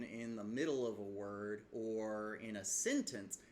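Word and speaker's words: 我: You only pronounce it that way whenever it's in isolation, like the word wo. It goes down and then up, wo.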